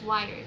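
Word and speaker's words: Wyrd: I don't know how you say the wired, W-Y-R-D-E, but I pronounce it as wired, okay?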